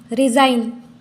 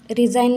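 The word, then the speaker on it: resign: campaign ऐसे बोलते हैं रिजाइन रिजाइन में भी जी का उच्चारण नहीं करते हैं जी यहां पर हो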